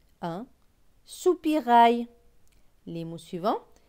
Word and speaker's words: soupirail: AIL, c'est aïe. Donc, R et aïe, rail. Donc, ce mot va se lire sous, pi, rail. Soupirail. Un. Soupirail.